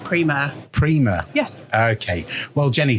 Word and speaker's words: Primeur: never get offended but the company name is pronounced Prima Prima yes okay well Jenny thank you very